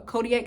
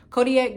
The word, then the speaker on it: Kodiak: even sell this anymore but Kodak just uh Kodiak is that how you say it Kodiak just came out with a oatmeal that's 20